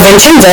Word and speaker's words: Vincenzo: His father, who was named Vincenzo, in Italian that C is pronounced like a CH, so Vincenzo was a musician, and as a musician he didn't make a whole lot of money.